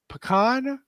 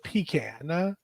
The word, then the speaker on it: pecan: Do we say pecan or pecan? Well, y'all just make me feel bad when I say it like I say it because it sounds nasty now. But it is pecan.